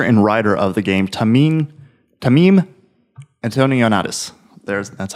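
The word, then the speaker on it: Tameem Antoniades: So basically what it is the director and writer of the game, Tamim Antonionatis.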